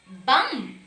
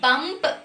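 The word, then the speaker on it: bomb: Next is bum. Not bump. It is not bump. B is silent.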